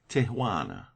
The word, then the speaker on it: Tijuana: There is a pretty little Mexican town on the line between Mexico and California, Tijuana, pronounced Tijuana.